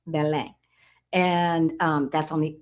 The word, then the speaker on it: Belém: Belém looks like Belem, b l e m, but it's pronounced Belem.